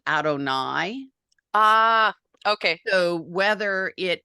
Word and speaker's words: Adonai: sometimes print God's name we always pronounce it Adonai ah okay so whether